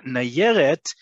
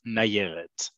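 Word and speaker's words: נַיֶּרֶת: So nayeret, it's just not there. It's the extra yod is there to make sure that you pronounce it as nayeret.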